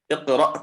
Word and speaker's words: اقرأ: Just to note how the Hamza is pronounced when it has sukun. Okay.